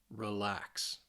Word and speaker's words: relax: But if the verb has 2 syllables for most of the time, it's going to be on that second syllable.